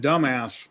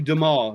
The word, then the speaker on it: Dumas: Well, it's actually Dumas. It's pronounced. It's French. Yep. Because it's like the guy who wrote the Count of Monte Cristo was Alexander Dumas. Yeah, but if you sounded out, it was something else. Yeah, it's spelled Dumbass, but it's pronounced Dumas. It's a French name.